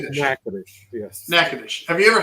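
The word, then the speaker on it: Natchitoches: Now, have you ever had a nachtoas meat? I don't know if I'm pronouncing that right. Nattoious meat pie. It's pronounced nacadish.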